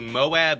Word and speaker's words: Moab: what would you like so we went to moab utah yes that's how it's pronounced m-o-a-b it's a town smaller than the